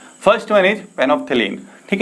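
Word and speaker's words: phenolphthalein: First one इज फेनोप्थेलीन, ठीक है। फेनोप्थेलीन जो है हमारा एल है, फेनोप्थेलीन में एल साइलेंट होता है।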